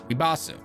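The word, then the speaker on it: リバース: When you take Rebirth and you put it in Japanese, it's pronounced Ribasu.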